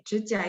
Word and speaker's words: 指甲: 指甲 itu aslinya 3 dan 3 ya.